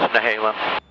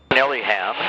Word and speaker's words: Nehalem: Yeah, it's Nehalem. You know, when you come up from California and you start mispronouncing all the goddamn names up here, the locals are like, "Oh, that's Nehalem, not Nellyham, you know.